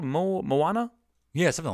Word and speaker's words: Moana: I think it's Moana I always thought it was Mona but I heard someone pronounced Moana it's m o a n like mon Mona was